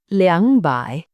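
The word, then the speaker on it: 两百: Finally, for numbers in the 200s, there are two ways to pronounce the two. You can say by or leang by.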